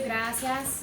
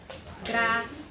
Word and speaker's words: gracias: And I want to remind y'all that there is a diphthong in this one, which means it's a 2-syllable word, not a 3. Gracias.